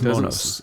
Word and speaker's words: Monos: It is Monos. I actually looked up an interview with the director to hear how he says it. Yes. Monos.